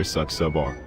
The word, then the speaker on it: Saxabar: My name is Monsieur Saxabar, and you pronounce it just as it looks, darling.